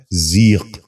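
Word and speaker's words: ضیق: آخری لفظ ہے ذیق۔ یہ غلط تلفظ ہے، درست تلفظ ہے ذیق۔ دوبارہ سنیے، ذیق۔ بچوں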